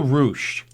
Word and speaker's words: ruche: How do you spell ruched? Rouche. Oh, I was close. It rhymes with douche. Ruche, douche.